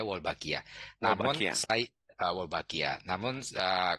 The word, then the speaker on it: Wolbachia: Ya, cara pengucapannya Wolbachia.